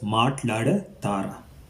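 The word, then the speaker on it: Maatladataara: Make sure you got that R sounds pronounced properly. I think I was pronouncing it as Maatlada Tara, which is incorrect because of the Tamil influence as well, but it's pronounced as Maatlada Tara. Meeru English Maatlada Tara. Get that R sounds right in that.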